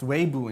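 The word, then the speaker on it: Weibo: 200 million people but uh i think it's pronounced weibu in china has like 500 million people on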